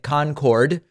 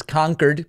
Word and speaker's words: Concord: Trump pronouncing it Concord, like the infamous supersonic jet, but it is Concord.